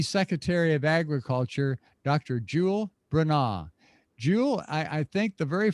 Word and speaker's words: Bronaugh: And it is pronounced Bronaugh, Bronaugh. So phonetically, Bruhnaw.